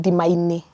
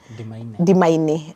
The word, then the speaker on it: Dimaine: You have to be very careful how you pronounce this. Very strategic. It's called Dimaine because we are at the border of Ndia constituency and Madera. So we are Dia Maderaini. So that's why the name is Dimaine.